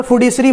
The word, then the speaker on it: fiduciary: अब यहाँ पे फिड्यूशियरी मनी, फिड्यूशियरी स्पेलिंग देखिएगा, FIDU है, ठीक है, एक बार